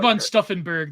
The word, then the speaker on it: von Stauffenberg: And I think von Stauffenberg.